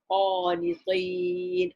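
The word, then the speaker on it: قانطين: Takun, you be minal qanitin, of those who despair. Now this word qanitin, be very careful when you pronounce it, because there's another word, qanitin, the ta. This is a ta, right?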